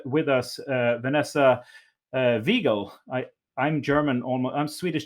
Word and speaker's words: Wiegel: That is the correct German pronunciation. Um, I also go by Vanessa, the more Americanized version of saying that.